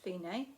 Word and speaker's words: fine: it says dc alfine it is pronounced fine because it's italian and it means go